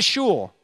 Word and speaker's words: shul: what sure what's that shul it rhymes with cool but it's not she